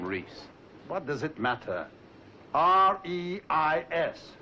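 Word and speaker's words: Reis: How do you spell that name, Reese? What does it matter? R-E-I-S. Reese. In German, that is pronounced Rice.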